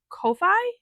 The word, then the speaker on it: Ko-fi: I am going to have that available on my Ko-fi, I believe is how you pronounce it.